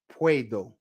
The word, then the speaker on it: puedo: how to pronounce these just simply think of the word play take out that l in the word play and put a w there all right puedo puedes put that W